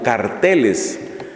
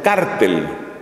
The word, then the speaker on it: cártel: narcotráfico Y entonces están lo que allá pronunciamos como carteles pero luego he sabido que muchas partes pronuncian cártel El Cártel de la droga Entonces no sé aquí como se dice cártel o cartel o qué O no se dice